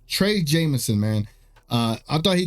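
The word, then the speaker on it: Trey Jemison: correct let me say his name properly uh Trey Jameson Trey Jameson man uh I thought he gave the team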